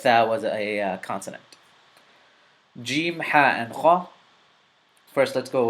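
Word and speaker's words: جيم: gene gene is a gene is characterized by you know you have a tongue and jaw meeting you're meeting the roof of your mouth right before you know right before where your teeth begin it's very similar to the following words in the English language gesture job Jim James it's very similar to those they start with either G or J but the closest sound is the jaw sound or the J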